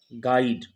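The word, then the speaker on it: guide: और बिल से पहले आएगा तो यह आपका साइलेंट रहेगा जैसे यहां पर देखें गाइड गाइड अब यहां पर यह जो है कि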